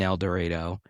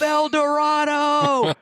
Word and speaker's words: El Dorado: concert venues here in El Dredo, you'll see you'll see a sign on there that says El Dredo rhymes with tornado to give the artist and then what do the artist do?